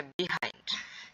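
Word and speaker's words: behind: B side আর হচ্ছে বিহাইন্ড। ঠিক আছে? তো দেখো এই তিনটা ওয়ার্ডের মধ্যে পার্থক্য কি? ঠিক আছে? তো দেখো এখানে বিহাইন্ড এটাকে আমরা আরেকভাবে উচ্চারণ করতে পারি সেটা হচ্ছে বাহাইন্ড। ওকে?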